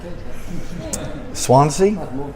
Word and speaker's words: Swansea: We would like you to pronounce these 3 Welsh place names and see if you can get them correctly. Swansea, Yes, fantastic.